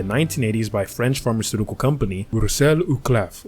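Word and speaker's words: Roussel Uclaf: by French pharmaceutical company Russell uklaff or Russell you claf but I'm just going to use the English pronunciation Russell uclaf I'm not really going to get into the whole fancy Frenchy pronunciation so hopefully I don't offend any french viewers this was the second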